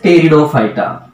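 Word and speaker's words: Pteridophyta: And last one is called as टेरिडोफाइटा. देखो पी इज a silent word. ये पी इज the hidden word. ये पी जो है वो हिडन है साइलेंट है. इसलिए pronunciation of this word that is टेरिडोफाइटा.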